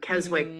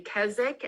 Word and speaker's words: Keswick: where I'm sitting in Keswick, Virginia. I was wondering if you were going to say Keswick, as the Brits do, or Keswick, because there is actually a Keswick, England. Did I say it properly?